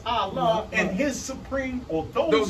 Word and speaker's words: Ali: in Noble Drew Ali, which we pronounce as Allah, and his supreme, or those who live to point to his supreme body.